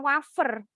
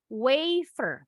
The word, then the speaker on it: wafer: kalau kita nyebutnya wafer tapi kalau bahasa Inggris bilangnya bukan wafer weiver bacanya wiper bacanya